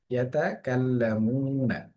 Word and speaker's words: يتكلمون: ইয়াতাকাল্লামুনা, পেশের বাম পাশে জজমুনা ওয়াও আসার কারণে একটা আলিফ টান হয়েছে।